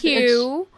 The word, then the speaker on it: HOU: So it looks like how. It does. Hugh. It's short for Houston.